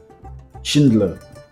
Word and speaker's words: Schindler: La liste du Shindle, c'est en anglais, c'est c'est un peu compliqué de prononcer. Shindle, c'est S I euh N. La liste du Schindle. Schindler si on veut prononcer en français.